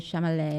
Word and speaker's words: Chalamet: With Timothée Chalamet.